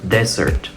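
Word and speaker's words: dessert: de arriba desierto en inglés esa palabra se pronuncia Desert Desert pero la palabra que está contra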